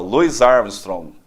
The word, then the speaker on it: Louis Armstrong: maravilha maravilha Dr cart o senhor gosta de Louis Armstrong demais demais a pronúncia correta mas esse é o nome de um dos maiores astros da música Mundial Luis Armstrong Com certeza o vamos pedir essa música para